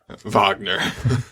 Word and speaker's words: Wagner: I can't think of any words that his name rhymes with. It's close to lager. Wagner.